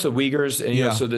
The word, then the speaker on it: Uyghurs: I think he's talking about the the the Uyghurs. Is that how it's pronounced? If I'm not mistaken. It's pronounced the Uyghurs and you know, so the Xinjiang's a very